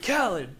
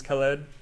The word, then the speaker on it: Khaled: so with dj khaled I've had to constantly like say his name how he says his name dj khaled in order to like get it so that I'm not saying it like their proper way which is Khalid no no one's ever